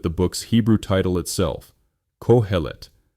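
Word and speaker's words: Qoheleth: Let's begin with the book's Hebrew title itself, Cohellet, spelled Cohellet and pronounced Cohlet.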